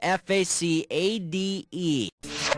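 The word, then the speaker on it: façade: it the word is f-a-c-a-d-e which of these sportscasters last names rhymes with the correct pronunciation of the word is facade which rhymes with Rashad and Ahmad his name also rhymes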